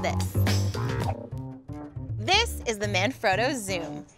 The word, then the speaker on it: XUME: see it written down X um II what you pronounce it zoo like a zoom lens so how does it